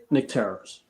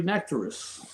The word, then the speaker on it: Nectarous: It's very Nectarous. How do you pronounce it? I'm sorry, I suck at Nectarous. It's like nectar and then no worries.